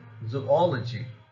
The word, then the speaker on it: zoology: before them for example zoology zoology here allah and she are already di syllabic therefore ah that means the syllable just before them has received the stress so the word is